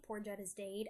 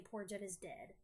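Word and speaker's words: Pore Jud Is Daid: is poor Jettas Dade I gotta say it like that cuz it's written that way poor debt is Dade I can't say poor Jud is dead that's just too square curly confronts Jud in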